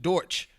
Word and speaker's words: Deutsch: They came from, I think, Germany, close to Germany, but they actually pronounced it Deutsch. But because we were English, British English at the time, we pronounced it Dutch, and so we called them the Dutch.